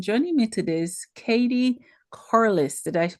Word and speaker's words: Corlis: I'm your host and joining me today is Katie Corless. Did I pronounce it right?